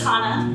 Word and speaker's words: Hannah: my name is Hana yes and I know exactly what you're talking about that CH sound that's how you pronounce my name so you know get